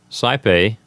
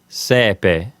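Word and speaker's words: saepe: our new word is sigh pay if you're using ecclesiastical pronunciation the a and E in sigh pay will sound like the E in bet so in that case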